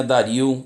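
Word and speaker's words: Dario: diz pareceu bem a darío ou dário depende como quiser pronunciar constituir sobre o lenny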